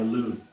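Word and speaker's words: Elune: your name of course you would I am aloon e l u n e Alon Alon how did you spell that e l u n e l u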